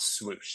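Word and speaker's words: .SWOOSH: 2022 they announced dot swoosh so this is pronounced whoosh there's a DOT or a period Then swoosh all capitalized I'm not yelling at you with swoosh that's actually the way they spell it again different generation different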